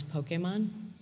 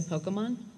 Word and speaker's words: Pokémon: told how to pronounce Pokemon there for the first five episodes or so we said Pokemon and then we got a missive that it had to be Pokemon and so we had to